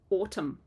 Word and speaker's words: autumn: words but if you think of words in English like Autumn we don't say that n on the end or limb or climb